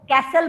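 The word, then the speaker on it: castle: कैसल, CAST, कास्ट की spelling में LE लगा दो। मैम कैसल मतलब, इसको कोई लोग कासल भी बोलते हैं और कैसल भी बोलते हैं, बट T इज साइलेंट, इसमें T का प्रोनाउंसिएशन बिल्कुल नहीं।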